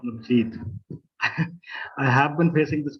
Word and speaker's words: Navjit: When Professor Ravindra Tiwari was speaking, he pronounced my name as Navjot, not Navjit.